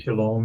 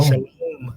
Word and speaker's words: Shalom: And the overwhelming percentage of the time, about 90% of the time, it's pronounced as O as in shalom.